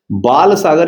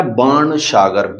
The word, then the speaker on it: बाण सागर: बाल सागर या बाण सागर, BAN, दोनों ही इसके प्रोनाउंसिएशन है, ठीक है।